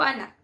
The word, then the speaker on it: ana: Ganahan ko ana. Ana. There should be a, like a stress on the last on ana.